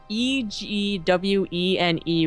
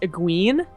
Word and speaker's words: Egwene: Like the Wheel of Time had it like I thought Egwene would be pronounced Egwene.